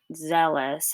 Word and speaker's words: zealous: has a long e but zealous has the shorter one it can have a slightly negative connotation people are sometimes described as overzealous meaning they try too hard you'll notice that zealous rhymes with jealous and actually both derive